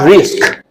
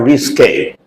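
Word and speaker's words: risqué: The pronunciation, you should note properly. Risque, not risk, but risque.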